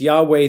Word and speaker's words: Yahweh: It's Yahweh through a Latinized version that we get also the name Jehovah, although that's really not the right way to say it.